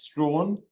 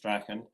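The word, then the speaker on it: Strachan: The village is pronounced Strawn. Um, but people in Scotland mostly 90% pronounced Strachen and um uh and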